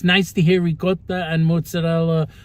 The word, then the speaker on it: mozzarella: rot cheese and mozzarella mozzarella cheese and mozzarel Moz Mo mozzarella it's not mozarella mozarella mozzarella if you hear someone say mozarella or Ric they probably don't have